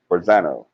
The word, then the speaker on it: Forzano: Am I saying it right? Is it Franzano? Franzano or Forzano? Forzano. Forzano. Forzano.